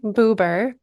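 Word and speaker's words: Buber: you referen the philosopher Martin how do you pronounce his last name Boer you referen the philosopher Martin boober yeah the idea of the I thou relationship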